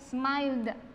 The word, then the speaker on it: smiled: Cuando yo lo pase a pasado simple, la pronunciación para esa ed va a ser el de una D, smiled, con una D.